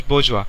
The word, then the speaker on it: bourgeois: statement now this word bourgeois is a French word it's pronounced as bourgeois now bourgeois has two